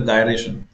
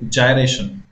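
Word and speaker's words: gyration: कई लोग इसको गलत प्रोनाउंस करते, बोलते गायरेशन। इट इज नॉट गायरेशन, इट इज जायरेशन, जायरेशन।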